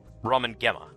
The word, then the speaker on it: Ramen Gemma: So a hard G. G. Ramen Gemma.